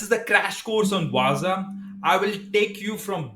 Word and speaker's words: Wazuh: outof thee boox info the proper way to pronounce is waza I might say wazu or waza because there are some confusions so let's keep everyone happy I have written a